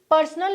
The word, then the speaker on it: personnel: आपका पर्सनल issue है, लेकिन इसकी जो प्रोनाउंसिएशन है वो अलग है, इट्स पर्सोनल, इट्स PERSONNEL।